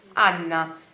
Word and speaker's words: Anna: Então, Anna, Anna con due N. Anna. Io chiamo Anna per venire con noi, sei lá.